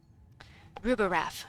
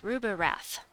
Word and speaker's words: Rubirath: um the brown dragon rubber wrath it sounds like rubber wrath it sounds like Scooby-Doo should be saying it rubber wrath it's Rupa rap it's fun to say